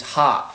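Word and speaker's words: ห้า: In Thai, we pronounce 5 is ha.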